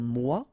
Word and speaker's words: mois: Un mois, and then moi, me. Okay, so un mois and moi.